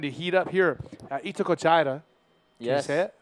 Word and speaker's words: Itacoatiara: So the action is starting to heat up here at Itacoatiara. Yes. Can you say it? They put me on the spot here, Eric. Dallas. Itacoatiara.